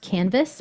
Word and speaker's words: CNVS: Lucy agini called cnvs It's pronounced canvas but it's without the vowels it's get cnvs or